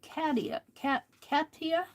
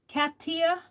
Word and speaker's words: Katia: I'm trying to learn from Katia, and I've learned that I'm pronouncing her name wrong. I think she calls it Katia. Katia. And I've been saying Katia.